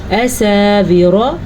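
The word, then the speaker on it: أساور: اساور، را کو پر پڑھنا ہے.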